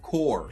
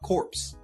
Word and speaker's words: Corps: is real a nerd corps it's pronounced core not corpse I don't have the